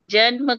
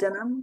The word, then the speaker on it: जन्म: Where is janam? Where is janam in the third line? Where is janam? Tyaktva deham punar janma. Where is janam? Mm. Janma. Mm. Yeah.